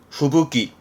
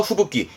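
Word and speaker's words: 吹雪: 발음은 후부기 후쿠의 후가구 육기가 묶이면서 후부기 요래서 시험 때 자주 보입니다.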